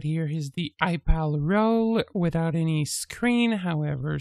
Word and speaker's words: EyePal: want to clarify that it can be confusing with iPad, but it is spelled EYEPAL. Correct. Yes, you're right, because many persons are confusing between iPal and iPad. Yeah, but iPal like an I.